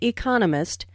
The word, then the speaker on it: economist: so It is emphasized are four syllables in Economist with the str second syllable Economist he just finished